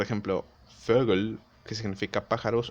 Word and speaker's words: Vögel: La letra O umlaut se deletrea también tal como se pronuncia. E. E. Recuerden que el símbolo que le daré entre paréntesis a la hora de ser pronunciada va a ser de una O y una E juntas. Por ejemplo, Vögel, que significa pájaros o aves.